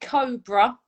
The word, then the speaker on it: COBR: So although we pronounce it Cobra, it's actually spelled COBR.